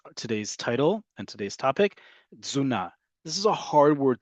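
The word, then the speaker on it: תזונה: And this word is pronounced, listen very carefully, it's a hard word to say, zuna. The t and the z basically become one sound.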